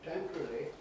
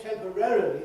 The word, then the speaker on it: temporarily: In fact, most people pronounce it not as temporarily. They either say temporarily, that's very common now, very popular now, but it means you do say all the syllables that are there, but you ease the matter by moving the stress later.